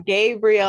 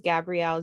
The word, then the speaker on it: Gabrielle: gotta remember it's okay you'd be surprised how many people mispronounce my name i'm gabriel all the time it's crazy but hi everybody my name is gabrielle janelle and i'm the